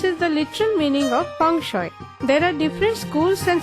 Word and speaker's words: Feng Shui: Feng Shui, usually pronounced as Feng Shui, is a 3,000-year-old Chinese technique of bringing happiness, health, wealth to the occupant.